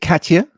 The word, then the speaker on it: Katya: Do you pronounce it Katya? Yes. Yes, as simple as that.